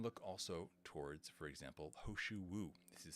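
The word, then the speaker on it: He Shou Wu: Then you can look also towards, for example, Hoshu Wu. This is spelled He space Shou space Wu.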